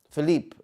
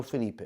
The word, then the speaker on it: Felipe: Philippe. Okay, Philippe. No, Felipe.